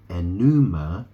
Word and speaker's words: Enuma: I mean, if you heard of the Babylonian creation epic, it's called the Enuma Elish. Okay? It's very similar. It's spelled E-N-U-M-A. Right? It's very similar to enema, which is E-N-E-M-A.